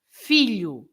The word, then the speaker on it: filho: So the general rule is you stress the first syllable, right? So you stress the first syllable, so that's why you say filho.